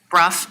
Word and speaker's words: Bruff: And I love the fact that um Alam, excuse me, um Alex Bro, is that how you pronounce this? Bruff. Okay.